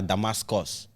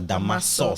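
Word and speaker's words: Damasus: and was like, Nigerians, Stella Damascus, but actually, her name was Stella Damasos. So sauce, but it's SUS, right?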